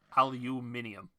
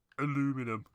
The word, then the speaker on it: aluminium: spelt and it's pronounced aluminium not aluminum which is the american way it's such a it's